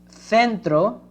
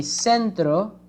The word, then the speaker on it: centro: but if you say centro centro is in the the countries from america so for those countries in america this letter sounds like an s okay um now here